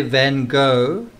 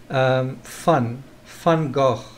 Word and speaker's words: Van Gogh: So almost the way you'd say cough, except not with an F, but with a kind of a slight ch sound.